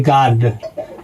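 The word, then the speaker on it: guard: ए आ गया है और इसका नियम है कि यू के सामने सामने वोवेल नहीं आना चाहिए। तो जो ए आया है दोस्तों ए वोवेल हो गया है। तो इसलिए दोस्तों यहां पर यू साइलेंट हो जाएगा। तो इसको दोस्तों सीधा पढ़ेंगे गार्ड।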